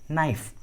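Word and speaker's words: knife: है तो के साइलेंट होता है, के का उच्चारण नहीं करते। For example नाइफ, नो।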